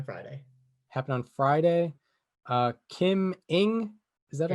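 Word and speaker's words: Kim Ng: happened on friday uh kim ing is that her name kim yes it's pronounced like ing okay kim ing uh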